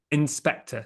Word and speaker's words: Inspectre: what you're looking for how do you pronounce it inspector So like um like Inspector Gadget but it's like it uh inspector in ghost so inspector so it's kind of a bit of a play on words but um yeah but